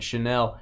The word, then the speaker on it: Chanel: of women's perfume Trevor wears it I think Chanel it's actually CJ would tell me I'm saying